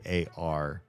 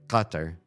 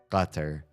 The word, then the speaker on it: Qatar: know some Arabic, and I say Qatar, it makes more sense to the ear to hear me say it from somebody who understands Arabic than how most Americans pronounce it. I think most Americans pronounce Qatar as Qatar, which is wrong every which way. Or it's close to right, but also extremely far from right.